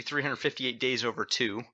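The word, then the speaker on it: 358/2 Days: days that's pretty close it's actually 358 days over two is how you pronounce it because it's referring to it's basically that's about 358 days over the lives of two different people uh that's why they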